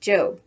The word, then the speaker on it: Job: going off to her job which in the bible is pronounced job remember that the one